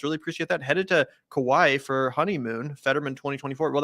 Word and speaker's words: Kauai: it sounds like a beautiful place am I pronounce that correct Kawaii Kauai Kauai in Hawaii right Hawaii yeah anyway I'm